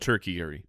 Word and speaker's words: tertiary: mean uh i'll oh it's a tertiary spoiled tomorrow's um pronounced turkey eerie thank you um tomorrow's uh